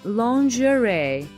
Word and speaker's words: lingerie: this one haven't you well it's pronunciation is quite tricky though it's lingerie next amazing word is